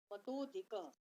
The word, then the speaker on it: मतोऽधिकः: अ का उच्चारण नहीं करेंगे, मतोऽधिकः, ज्ञानिभ्योऽपि मतोऽधिकः कर्मिभ्यः च